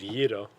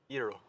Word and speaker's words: gyro: The correct way is gyro but that's how you say it, like the Greek language. Pronounce it. Gyro. Perfect. Go ahead. Say it one more time. Gyro.